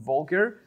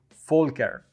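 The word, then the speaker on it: Volker: Folker La tusek all the time I was pronouncing your name incorrect saying vulgar but my friends from Germany said that it's ink correct and I have to say full care I'm very sorry from starting from today I'm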